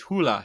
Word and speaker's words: Hole: probably most famous for his Harry Hole mysteries, although the Norwegian pronunciation is Hula, so his Harry Hula